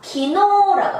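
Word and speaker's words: 昨日: 이 자길을 여러분 한자음으로 읽으면 이렇게 됩니다. 작, 사쿠, 일, 지츠 이렇게 읽어요. 그죠? 근데 일상생활에서 어제를 그렇게 쓰진 않죠. 그죠? 자, 이렇게 읽으시면 안 됩니다. 한자는 자길이라고 쓰지만 키노라고 해서 어제가 되겠습니다. 자, 어제 작자예요.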